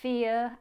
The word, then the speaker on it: fear: There's little consistency in pronunciation between fear and bear. Now hear that difference. Fear, bear. Fear, ear, like your ear.